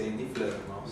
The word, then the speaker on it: Die Fledermaus: Corregime si lo pronuncio mal. Con la ópera Die Fledermaus. Sí, Die Fledermaus.